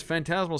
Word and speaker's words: Phantasma: the same letters um it actually does phantasma starts with the silent p oh we can't game